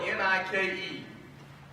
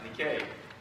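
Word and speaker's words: νίκη: Which, by the way, the word for overcome is spelled N-I-K-E. You know that? It is. And it's not pronounced Nike. It's pronounced Nikkei.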